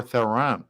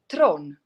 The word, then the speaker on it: Theron: char charlize theroux or theron theron but actually tron that's how you would actually pronounce it in south africa yes see there we